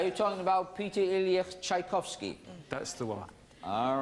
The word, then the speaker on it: Tchaikovsky: Are you talking about Peter Ilyich Tchaikovsky?